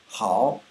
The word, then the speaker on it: 好: own is a character it has one syllable it's pronounced how it means good on its own so is you good but um anyway how um first we're going